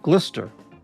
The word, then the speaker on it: Gloucester: Gloucester pronounced Glister. So many extra letters worse than the French.